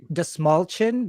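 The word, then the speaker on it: Dastmalchian: uh actually it's pronounced the small chin because it's the small chin yeah really yeah that's how he explained it in one just just think small chin David the small chin okay yeah cool that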